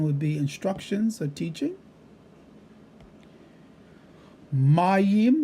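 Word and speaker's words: מים: Mayim, again, emphasis on the first syllable, water.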